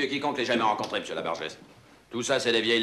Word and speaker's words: Labarges: Comme vous voudrez, monsieur Labarges. C'est vous qui décidez. Labarge, tout court. On ne prononce pas le S final. Ah, c'est Labarge.